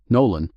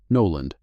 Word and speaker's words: Nolan: Welcome to the team, Nol. Nolan. Right, Nolan. She didn't apologize for the error. Let's get you set up. The onboarding process took 2 hours. During those two hours, Margot mispronounced his name twice more. Noland, then Noel again.